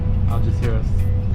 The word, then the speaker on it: Algeciras: To Algeciras, or Algeciras as it's pronounced properly, and I can like barely contain my excitement.